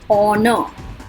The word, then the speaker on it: honor: H silent, honor, honor, R, ये सब हमने पहले भी देखे हैं.